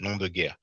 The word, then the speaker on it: nom de guerre: It's not easy to pronounce, close to native speakers, but that's French, nom de guerre, which literally means name